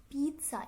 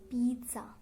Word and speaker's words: pizza: not anything but it's pizza. It should have a T sound but a very little P sound in the middle, so it is pizza.